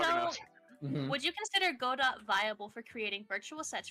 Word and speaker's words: Godot: It's spelled Godot.